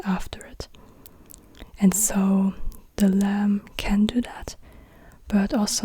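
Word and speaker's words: لام: then at the end then we have the lamb the lamb is an L lamb is like an l and it's also written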